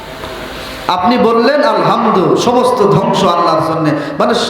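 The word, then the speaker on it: الحمد: এই আলহামদু বড় হা, অধিকাংশ মুরব্বীদের, যুবক ভাইদের এই বড় হা উচ্চারণ আসে না, ছোট হা আলহামদু, বাংলায় হ দিয়ে উচ্চারণ আসে।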